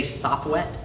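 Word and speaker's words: Sopwett: And when I say Sopwet, it's spelled S-O-P-W-E-T-T, and it's an acronym that you'll hear what it means at some point in the story.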